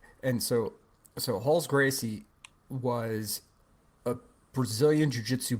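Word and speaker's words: Rolls Gracie: there's a guy named Halls Gracie it spelled rolls but it's like traditional Brazilian that R is pronounced like an H in the beginning it's and so so Halls Gracie was a Brazilian Jiu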